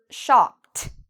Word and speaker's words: shopped: Shop ends in a P sound. So because of that, we pronounce it like a T. Shopped. Shopped. You hear that strong T sound. Shopped. Yesterday, I shopped. Notice I am not saying shopped. I'm saying very quickly, shopped.